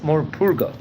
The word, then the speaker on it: Morpurgo: various occasions before, Rabbi Samson ben Joshua Moses Morpurgo. That's how to pronounce his English name.